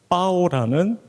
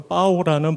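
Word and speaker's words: pão: 그 과정에서 성경의 빵, 빠오라는 그 포르투갈어로 빠오라는 발음을 한자 성경으로 적다 보니까 한국말로 병자를 썼습니다.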